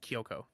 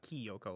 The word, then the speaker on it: Kyoko: let's create case uh it's spelled with a y it's uh it's just kyoko uh it's not ki yoko like here's uh it's followed kyo ko i believe like that kyoko kitigidi i mean kyoko